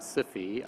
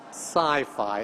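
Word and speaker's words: SIFI: I would argue that si fi should be pronounced the same as H I fi hi-fi or Wi-Fi which I'd pronounce as or si fi then should be pronounced as sci-fi exactly and that's exactly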